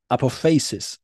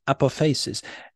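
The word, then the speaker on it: apophasis: in the Greek well I'm not saying this is the correct Greek pronunciation by the way but this is um how I've heard it said Apple faces upper faces APO FH a-s-i-s if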